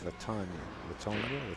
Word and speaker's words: Latonia: It's Latonia. She said a lot of people make the mistake, and she doesn't like it. Latonia.